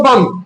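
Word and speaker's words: bomb: लिखा होता है बम, आप पढ़ते हैं उसको बम, लिखा होता है क्या डम, लिखा होता है डाउट, लेकिन पढ़ते हैं क्या डाउट, तो यानी डी साइलेंट हो रहा है ना।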